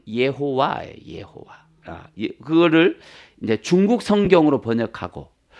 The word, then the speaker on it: 여호와: 자, 우리가 구약 성경에 여호와 나오잖아요. 원 발음은 예호와예요. 예호와. 그거를 이제 중국 성경으로 번역하고 그 중국어로 번역된 걸 우리나라로 번역하다 보니까 여호와가 된 거예요. 원래 발음은 예호와예요.